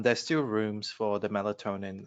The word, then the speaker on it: melatonin: in regards to sleep medication if is it militant am i pronouncing that correct kevin melatonin yeah yeah does not work for your patient